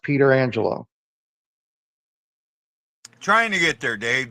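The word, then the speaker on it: Pietrangelo: a goalie and he he told people to pronounce it that way he want even even though he said it was normally pronounced petrangelo he wanted his name pronounced Peter Angelo trying to get there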